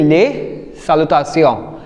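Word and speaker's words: salutations: uh ending with S बट यू आर not saying less and then सालता सियोस because S इज a consonant so वी are keeping it silent so वी are saying ले सालता सियो now this side we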